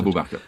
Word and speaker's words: Abu Bakr: And this was a great friend of Muhammad's, Abu Bakr, is that how I pronounce it? Abu Bakr.